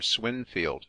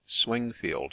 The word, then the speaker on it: Swingfield: knight's Templar situate near swinfield swinfield or as it is now generally spelled and pronounced swingfield Menace a rough tract